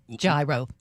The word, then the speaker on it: gyro: Gyro.